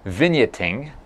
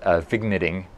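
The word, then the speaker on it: vignetting: you will be expecting vineya ting thank you for everyone for mentioning that I was not pronouncing it correctly I was pronouncing it fig knitting I liked Vigna being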